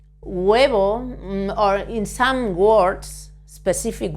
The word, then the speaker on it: huevo: Roth this one El huevo egg when we pronounce this word the H is never pronounced in Spanish in Spanish but when we say huevo or in some words